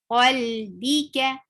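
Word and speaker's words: قَلْبِكَ: Qalbi, B is short, ka, qalbika, B.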